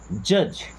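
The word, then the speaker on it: judge: जज, अब ये जज करना मतलब क्या होता है, देखिए यहाँ पे पहली बात तो डी साइलेंट है।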